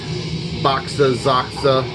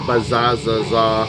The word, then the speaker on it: Baxaxaxa: with their side project boxes Aqsa or phases however you want to all right I wholly endorsed both pronunciations of the band boxes Aqsa or fuzzy Zaza odd god